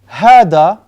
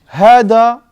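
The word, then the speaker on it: هذا: Hada, you know how to write hada?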